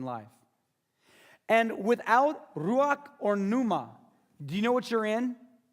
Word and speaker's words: pneuma: And then you spell that R-U-A-C-H. Ruach. Ruach. Ruach. The Greek word is the word pneuma.